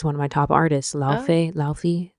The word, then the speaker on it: Laufey: Laufey. It's not Laufey, but I read it. When I see it, I just see Laufey.